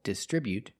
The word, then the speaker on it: distribute: They distribute their products, with a stress on the second syllable, distribute.